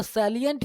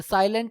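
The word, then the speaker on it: salient: आज हम लोगों को पढ़ना है द सैलिएंट फीचर। ये साइलेंट नहीं है, सैलिएंट है, यानी सैलिएंट का मतलब होता है मेन, मुख्य।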